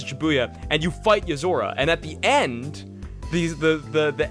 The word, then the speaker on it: Yozora: How do you spell that name? What? Nozura? Yozora. Oh, Yozora.